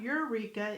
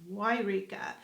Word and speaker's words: Yreka: Yes, spelled with a Y. That's right. It's not Eureka, it's Yreka.